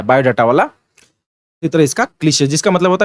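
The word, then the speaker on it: cliché: इसका pronunciation क्लीशे है मेरे दोस्त।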